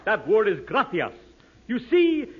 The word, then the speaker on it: gracias: No, no, no, not gracious. That word is gracias. You see, in Spanish, the C is pronounced th gracias.